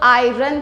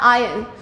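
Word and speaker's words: iron: अच्छा, एक चीज़ यहाँ पे नोट करेंगे, बहुत से लोग इसको मिसप्रोनाउंस करते हैं, कुछ लोग आयरन कहते हैं, लेकिन ये आयरन नहीं होता, इसका करेक्ट प्रोनाउंसिएशन होता है आयरन, सो we call it आयरन।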